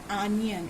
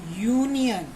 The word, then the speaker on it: union: So when you pronounce it, it is not onion, it is union.